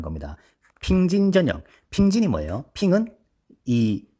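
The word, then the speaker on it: 平: 평진 전역 평진이 뭐예요 핑은이 베 지금은 베이징인 이때는 베이핑이 그랬어요 북평 왜 난징의 수도 아아 그러니까이 수도 경자를 떼서 북경이 아니라 북 평이라 한단 말이에요 그래서이 중국 발음으로 평이 핑이 핑 텐진의 진 합쳐서이 핑진스님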